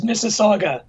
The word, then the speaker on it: Mississauga: Michael Kaler from the University of Toronto, and then another word that I don't know how to pronounce. Welcome, Dr. Kaler. It's Mississauga.